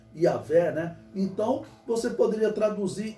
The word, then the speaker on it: Yahvé: Significa que no hebraico está o nome de Deus, o tetragrama sagrado, que se pronuncia Yahvé, né?